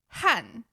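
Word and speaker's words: 和: Is it "han"? I always thought it was "hai". In fact "he" in Taiwan I have also heard that. But it's rare.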